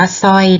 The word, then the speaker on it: สร้อย: ดี ค่ะ อะไร ฮะ สร้อย อ่าน ว่า สร้อย นะ คะ เด็ก ๆ เวลา